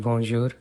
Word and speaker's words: bonjour: For example, in words like bonjour, the BUN part is pronounced as bon, and this sound comes from the nose.